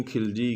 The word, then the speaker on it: खलजी: तो अलाउद्दीन खलजी भी लिख सकते हैं, खिलजी भी लिख सकते हैं, कई जगह दोनों नाम मिलते हैं। हमारी किताब में खलजी लिखा तो हम यहाँ खलजी का उच्चारण ही करेंगे।